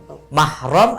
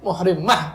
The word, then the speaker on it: mahram: Oh, jadi yang benar adalah mahram, bukan muhrimnya. Bukan muhrim sebenarnya.